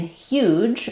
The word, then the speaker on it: huge: Um in huge uh we have again the same hu sound and then letters ge say the j sound like in edge or judge.